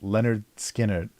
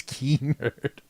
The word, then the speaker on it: Lynyrd Skynyrd: how to pronounce was Leonard Skinner because the Y sound is always e so it's key nerd so the band the